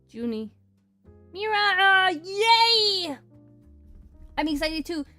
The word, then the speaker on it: Juni: It's not pronounced Junipur? No. Just because I know a little Spanish doesn't mean that it's always said that way. It's just Junie.